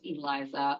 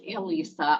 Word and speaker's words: ELISA: What does Eliza or Elisa? I don't care how you say it.